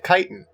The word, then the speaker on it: chitin: As a zoologist, I'm going to give you 10 points for pronouncing chitin right.